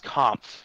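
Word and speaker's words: Kämpf: to play it David Camp no it's comp it's k a m PF that is pronounced comp Camp holds if you're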